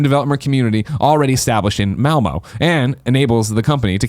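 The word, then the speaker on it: Malmö: Malmo, is that how you say it? Malmo, yeah, that's right.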